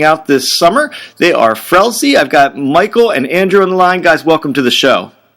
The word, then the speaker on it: Frelsi: Yeah, you're saying it right, Frelsi.